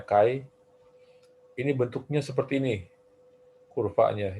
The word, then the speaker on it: Chi: untuk kayu Square ini ini tulisnya cie dibacanya Kai ini bentuknya seperti ini